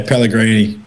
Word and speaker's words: Pelini: Patrick or uh yeah Pelini is it my right Pelini yeah yeah Pelini yes he's Italian so yeah but to Italian yeah I was going to say yeah yeah that's a perfect pronunciation my one's from the